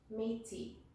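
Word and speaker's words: Métis: Nations and number three meaty the S is silent and these people lived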